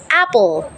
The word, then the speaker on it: apple: so for example like apple so P you only pronounce the word uh the letter p and l pull Apple pull so the E is actually silent but there is an